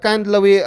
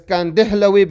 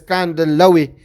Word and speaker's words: Kandhlawi: it as Kandihlawi, but the correct way is he comes from Kandla, so he pronounce it as Kandlawi.